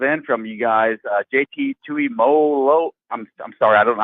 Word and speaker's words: Tuimoloau: And we drafted a defensive end from you guys, JT Tuimoloau. I'm sorry, I don't know how to pronounce it. Tuimoloau, you got it.